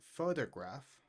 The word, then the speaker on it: photograph: the middle in the word photograph it's uh near the uh in the beginning photograph.